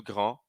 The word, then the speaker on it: grand: feminino na língua falada Grand não pronuncio Granda pronuncio só consoante parfet Não pronuncio parfet